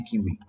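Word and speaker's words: Kivy: Yeah, see, the way they pronounce it is actually Kiwi.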